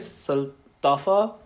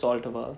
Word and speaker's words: Saltafa: Also, yeah, everybody who asks me how to pronounce it, there's 2 correct ways to pronounce it. The correct way is Saltafa, but what I call it is Saltava.